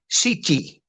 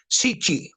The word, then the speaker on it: Citti: In Italy, the T, when you have two T's side by side, it's pronounced Citti with like CH. Citti.